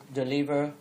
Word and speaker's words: deliver: Now we got to deliver the edge. Đấy. Nhớ là chữ từ này chúng ta đọc xoa âm đầu tiên. Đấy. Và nhấn âm thứ hai. Đấy, chứ đọc là deliver mà deliver, right?